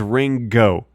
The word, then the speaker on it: Ringo: I guess it is Ringo I guess it is ring go with a hard G I've never really thought